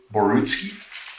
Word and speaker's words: Borutski: Now, Basil, am I pronouncing your last name correctly? Is it Borutski?